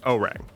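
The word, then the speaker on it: Orang: For future reference, it's pronounced with a hard G, like O and then the word rang. O-rang.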